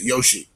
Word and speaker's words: Yoshi: It's Yoshi. And this is Yoshii.